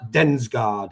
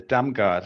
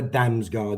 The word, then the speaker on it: Damsgaard: It's a Damgaard, so it's like the guy who plays for Brentford without the S.